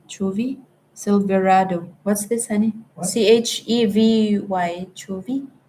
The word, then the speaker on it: Chevy: C H E V Y. Chuvi. How do you pronounce Chuvie?